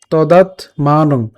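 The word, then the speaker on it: তদাত্মানং: মানং এখানে কি উচ্চারণ করলাম তদাত হসন্ত পর্যন্ত উচ্চারণ করেছি তদাত এরপর মানং তদাত মানং এখানে খেয়াল করুন আমরা অনুস্বারটা অনুসারের মতোই উচ্চারণ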